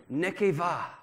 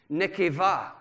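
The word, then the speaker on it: נקבה: genesis chapter one is nekeva and here's how it's spelled n e q e b a h but the b is pronounced v nekeva ladies say nekeva one two three nekeva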